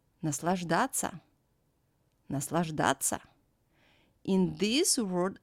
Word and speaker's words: Наслаждаться: In this word, the letter T has to become soft. But in verbs that end in soft sign ся, we don't soften it, and ся is pronounced as ца. Наслаждаться.